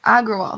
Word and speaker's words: Agrawal: this new ceo um argo wall that's how you say it um aggrowall agrawal that's it um they shared the